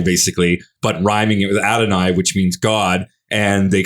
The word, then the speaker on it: Adonai: And it rhymes with Adonai, which means Adonai, which is a play on the word, the Hebrew word for God, Adonai. Adonai. Adonai, not Adamai.